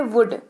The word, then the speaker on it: would: अगला शब्द है वुड, WOULD, एल साइलेंट रहता है जैसा कि कुड और शुड में होता है। वुड में भी सेम एल साइलेंट रहता है, WOULD। वुड इसको पढ़ते हैं, मतलब इसका होता है गा, गे, गी।